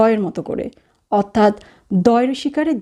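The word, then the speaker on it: di: দি। ইংলিশে এটিকে উচ্চারণ করা হয় ডি এর মতো করে, অর্থাৎ ড, আর ইটালিয়ান ভাষায় উচ্চারণ করা হয় দ এর মতো করে, অর্থাৎ দয় রসিকারে দি দি।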